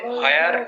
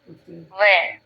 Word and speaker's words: where: এইচটাকে বাদ দিই তাহলে where, হোয়ার, হোয়ার। এইচ বাদ দিলাম কি? why, ওয়াই। এইচ বাদ দিলাম, which. এভাবে উচ্চারণ করতে হবে। হ্যাঁ, লেখার সময় এইচ থাকবে, বলার সময় এইচ থাকবে না।